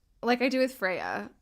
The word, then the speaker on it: Freya: It's like, no, it's not the Nordic pronunciation. But it's okay. And I really think that she's not gonna hate me for saying Freya. And, like, it's like the English pronunciation of it.